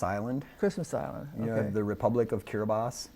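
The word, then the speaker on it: Kiribati: yeah the Republic of kiribas it's uh k-i-r-i-b-a-t-i thank you for teaching me that pure body but it's the ti is pronounced s so it's kiribas and it's an island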